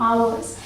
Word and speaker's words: ours: अब इसके लिए जो प्रोनाउन है वो है OURS, तो इसे क्या प्रोनाउंस करते हैं, आवर्स।